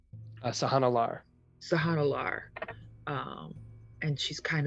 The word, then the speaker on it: Sahannalar: Sahana Lar.